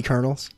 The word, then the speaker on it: colonel: or just the kentucky colonels that'd be cool but you do you spell it like colonel like a corn kernel everyone just looks like